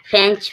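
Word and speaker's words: fetch: फेंच, फेंच means लाना, टी के बाद CH आया, टी साइलेंट है।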